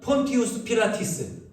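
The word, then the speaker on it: Pontius Pilatus: 이 본디오 빌라도의 로마식 발음이 폰티우스 필라티스입니다.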